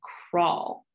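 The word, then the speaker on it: kraal: dig what's called a crawl and that is an interesting thing crawl does not sound like an english word and you see it's spelled k-r-a-a-l and i actually have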